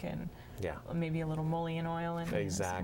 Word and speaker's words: mullein: maybe a little mullein oil in it. Exactly. Mullein, is that how you say it? Yep. Yeah, it's mullein And, oil.